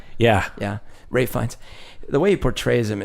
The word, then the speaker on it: Ralph Fiennes: The way that Ralph Fiennes, is that how you say his name? Ralph Fiennes? Even though it's spelled like Ralph? Yeah. Yeah, Ralph Fiennes.